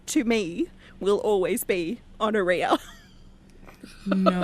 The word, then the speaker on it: Honoria: But like there's no way that Honoria's name rhymes with gonorrhea.